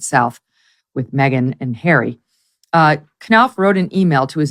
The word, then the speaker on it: Knopf: Sydney for the Invictus Games, Jason, is it Knopf? Is that how you pronounce his name? Knopf, yeah.